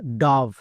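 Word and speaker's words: dove: এবং শেষের ই সাইলেন্ট। তাহলে এর উচ্চারণ ডব হবে না। অনেকেই ভুল করছো। আজকের পর থেকে আর ভুল করবা না। ওকে? তাহলে এর উচ্চারণ কি হবে? ডাভ।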